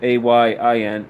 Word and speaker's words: Ayin: He is therefore life and love, but moreover, his letter is Ayin, that's spelled A-Y-I-N, Ayin, the I.